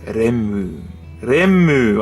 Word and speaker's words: Rem: gameplay stuff, and whatever Rem wants. Remu. I didn't say it right this entire review. I suck. Remu.